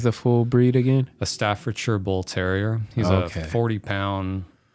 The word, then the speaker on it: Staffordshire: Yeah, so it's pronounced Staffordshire.